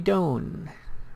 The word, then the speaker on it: Doan: Next we have Andy Doan. Rhymes with zone.